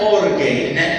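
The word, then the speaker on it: ὀργή: La primera se pronuncia orgay y eso significa una agitación interna.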